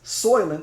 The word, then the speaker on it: Soylent: In a world where a company named the SOYLENT Corporation is SOYLENT, spelled like soy, S-O-Y, and then lent, like, I'm thinking like lentils or something like that.